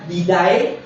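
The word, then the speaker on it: διδαχή: 30 veces la palabra didae, que realmente es la pronunciación correcta y didascaya que es aparece 21 veces en la eh en la palabra de Dios, en el Nuevo Testamento.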